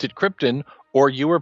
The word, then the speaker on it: Krypton: movie came around mm-hmm they pronounced the planet like the noble gas it was not Krypton